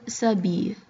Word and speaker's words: s'habille: Il s'habille. And that's the verb s'habiller. So note the S apostrophe because the H isn't pronounced and it's kind of treated as a vowel, so we go S apostrophe.